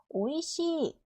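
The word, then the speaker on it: おいしい: 뒤에이가 와야 돼요 2단에 그래서이 뒤쪽에 있는이가 날아가고 시가 두 박이 되는 거죠 오이시 오이시 자 똑같아요 숫자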